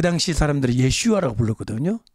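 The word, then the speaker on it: ישוע: 슈아 라고 불러 거든요 히브리 말로 예수와 그렇죠 좀 예 슈아 라고 부르는 사람들이 많습니다 우리도 한번 따라 합시다 예수와 다른 신 이름이 아니에요 이 거액 씨가 가 예수님을 원래 원음에 가깝게 발음하면 예 슈아가 되는 겁니다 따라 써요 예수와 예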